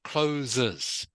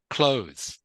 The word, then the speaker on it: clothes: close yes so yeah so not closes not close you you are putting an extra syllable on the end that it doesn't have all right so it's just clothes clothes can you try